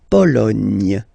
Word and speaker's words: Pologne: Remember in French, sorry, H doesn't exist, okay, so you don't pronounce it, and it's li, tu, a, ni, Lituanie. La Lituanie. Okay, continues. La Pologne.